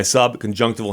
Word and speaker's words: subconjunctival: have and he said it's actually sub conjunctival subconjunctival like you pronounce the the the i in the word as if it's the word I the letter i you pronounce the letter I like it's the word i e y sub conjunctival sub conjunctival